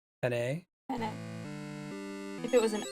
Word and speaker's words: penne: I think in Italian you pronounce all of the letters. So if there's an E at the end, I think you say penne.